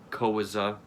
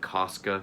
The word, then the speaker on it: Koska: kind of detective like oscar's last name is koza but she keeps calling calling koska because that's how it's spelled so like he keeps correcting her but she keeps still saying like mr koska it just like using